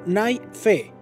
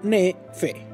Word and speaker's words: Nefi: Durante los días de Nefi y Lehi, se pronunciaba como Nai-Fe o Ne-Fe.